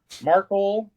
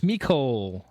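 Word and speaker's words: Mecole: Tay Merkel. Mercoll. It's Mikole. Mik.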